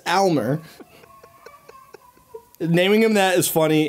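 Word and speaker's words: Aylmer: It's not even Elmer. It's spelled A-Y-L-M-E-R. Oh, are you serious? Yeah, it's Elmer.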